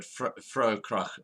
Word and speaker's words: Vrouekrag: Okay, now for people who are not aware, Vroue Krag is spelled VROUEKRAG. Yes. Okay. Definitely. South Africa. And it's not the sea. Oh, It's the Africa, like in Afrikaans. so it's one word, Fraukrach, South Africa, one word.